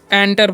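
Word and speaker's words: enter: तो लिखा हुआ है ई एनटी आर तो बहुत सारे स्टूडेंट इसे क्या पढ़ते है इंटर इंटर नहीं पढ़ना है इसे क्या पढ़ना है एंटर पढ़ना है क्या पढ़ना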